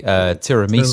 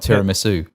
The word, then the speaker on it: tiramisu: It's like I say tiramisu, like not tiramisu. It's tiramisu. Just emphasize different bit of the word.